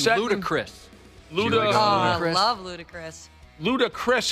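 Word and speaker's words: Ludacris: lud I love ludicrous ludicrous is how you say it yeah okay um he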